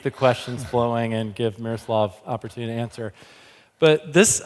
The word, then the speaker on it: Miroslav: Miroslav. Miroslav. Good. I like that better.